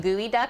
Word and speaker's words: geoduck: do I ever cook with gooey duck I've not I've not yet it's so freaky looking yeah geoduck is how you spell it it's so funny okay